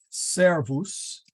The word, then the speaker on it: servus: have servus okay and the accent is on the now in this case there really is there there is no third syllable in front so we have to put the the at the accent there servus and then we can